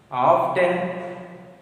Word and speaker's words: often: Often pronunciation T is silent, so you have to pronounce that is often. Often T is silent.